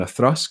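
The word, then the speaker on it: Auchroisk: An Achroisk, or an Athrusk, if you want to pronounce it properly, which is another 10-year-old.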